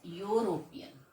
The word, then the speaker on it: European: eu is pronounced as european so it is starting with y so that's why we have written here a so if we though